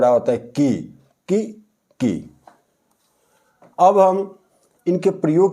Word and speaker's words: की: ई की मात्रा लगी है इसलिए इसका जो उच्चारण है इससे थोड़ा ब होता की की की अब हम इनके प्रयोग की बात करते हैं